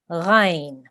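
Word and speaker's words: غين: So we will pronounce this letter, the name of this letter is Ghain. Okay, Ghain. It is also a thick letter, so our mouth will be rounded when we are saying this sound.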